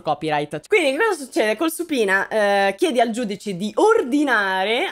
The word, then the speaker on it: subpoena: team fa il famoso supina si scrive subpoena ma in inglese si pronuncia su pina che è una cosa